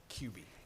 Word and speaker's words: Kuby: Just as a quick aside, since this is probably your first interaction with Senator Kuby, it's pronounced like a quarterback, QB.